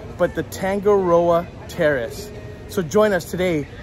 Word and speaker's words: Tangaroa: special place for breakfast and that is the tango roa terrace i finally said it right had had many outtakes to get that right but the tangaroa terrace so join us today as we have